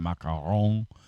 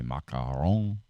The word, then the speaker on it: macaron: or ma macaron if you know how to pronounce that macaron is the correct way macaron it's French it's a cookie actually they're they're